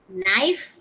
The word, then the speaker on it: knife: Knife where k is silent.